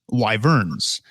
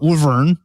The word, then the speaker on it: wyvern: how to pronounce this it is wyvern okay it's not woven because that doesn't make any goddamn sense it's just you say it the way it looks it's w-y-v-e-r-m live urn